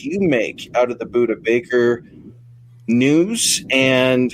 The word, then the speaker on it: Budda Baker: What about how's it pronounced? Budda Baker, right? Yeah, Budda Baker, yeah.